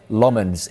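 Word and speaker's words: Lammens: the window, but United opted to sign center Lmens instead.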